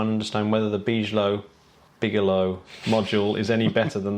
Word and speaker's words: Bigelow: No, Bigalow. Bigalow expandable activity module. I'm gonna go with Bigalow from now on rather than be low.